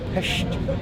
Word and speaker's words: Pest: hills and that is hes that's how you pronounce it PES known for its flat more modern attributes this